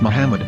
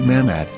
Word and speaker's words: Muhammad: According to Ben Yehuda's Hebrew-English dictionary, it is correctly pronounced as Muhammad, not Mahammad.